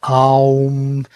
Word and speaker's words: Om: Well, Om is Om. It's how we pronounce it in the Veda. But Aum, how we pronounce it is in Tantra.